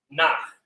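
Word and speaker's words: נח: And Noah's name is pronounced Nach.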